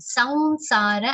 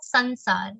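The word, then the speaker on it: संसार: a nasal ver consonant, samsara and not sansar. In Hindi and our other languages we end up saying sansar or samsar, but in Sanskrit it will be pronounced like a nasal ver consonant, samsar.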